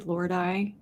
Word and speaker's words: Lordi: say the name of that other band lordy Lord I lordy Lord Lordi Lordi yes I actually know